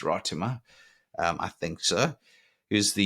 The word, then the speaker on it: Ratima: Somebody tried to teach me how to say it. I used to say Ratima. Well, apparently it's Rotima.